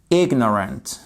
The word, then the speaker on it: ignorant: ignorant of the rules avec une accentuation sur le IG ignorant OK si vous faites